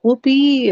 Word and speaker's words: Whoopee: A Uh, whoopee, like whoopee, or like you're gonna get yeah, a whooping, no, or it's like whoopee, like fun or something.